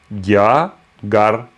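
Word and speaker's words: རྒྱ་གར: Donc, gya, gar. Hein? Gagar pour dire l'Inde. Mais une fois c'est gya, une fois c'est kar, qu'on prononcera gar par habitude. Mais sinon c'est gya, kar.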